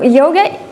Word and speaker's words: yoga: just the word itself, you might hear it pronounced in different ways. So obviously the most common one that we're all using is yoga. Yoga. But you will hear some especially Indian speakers say yog without the a at the end.